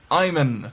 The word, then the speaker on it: Iman: and all one companion Iman no oh Elman no no no you you said it right I just I don't want to see that as a it's it's Iman is Iman but it is IM